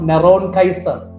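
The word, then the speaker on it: נרון קסר: So Nero in Hebrew we read Neron Kaiser. So in Hebrew it is written, it's a transliteration, N-R-O-N-Q-S-R, Neron Kaiser, pronounced Neron Kaiser.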